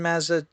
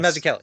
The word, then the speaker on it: Mazzucchelli: Brian Mazzucchello? Yes, Mazzucchelli. Am I pronouncing? Yes. Mazzucchelli.